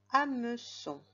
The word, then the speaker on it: hameçon: points on continue un hameçon un hameçon met sur pause à son j'aurais pu te préciser qu'il y avait une lettre muette au début du monde c'est le h à me sont sinon